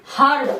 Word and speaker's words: herb: HERB, हर्ब। क्या पढ़ेंगे? हर्ब।